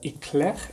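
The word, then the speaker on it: éclair: for the eclair so the eclair or the eclect as you pronounce it in french was created in france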